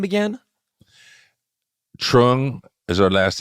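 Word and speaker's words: Truong: one more time slowly what's her name again Trung is her last name t Ru t r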